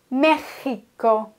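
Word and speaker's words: México: Ausnahme bei diesem Wort das X wird als ch ausgesprochen mechiko das Wort mechico ist also wirklich eine Ausnahme dass man hier das X wie ein ch ausspricht z.B bei maximo da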